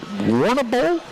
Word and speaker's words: Warrnambool: If I'm pronouncing it correctly, is it Warrnambool?